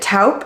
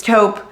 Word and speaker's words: taupe: it wrong too so I've always pronounced it taupe and apparently it's not taup it's taupe thank God for moms